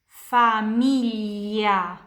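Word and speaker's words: famiglia: Fili filli anak-anak di sini familya familia keluarga.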